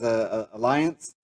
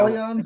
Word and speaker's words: Allianz: The name of the company is Alliance. Am I saying it right? Allianz Life. There you go.